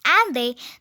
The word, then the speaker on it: Inde: The Sanskrit word Sindhu was pronounced Hindu in Old Persian and Hindu in French became Inde, pronounced Ande.